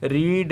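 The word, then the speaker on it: read: रीड, रेड, रेड, पढ़ते दूसरा है लेकिन स्पेलिंग यही होता है रेड।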